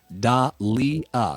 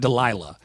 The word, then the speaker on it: Dahlia: It's Dahlia. Certainly not Delilah. Dahlia is very different. Yeah, delightful. That's not Delilah at all.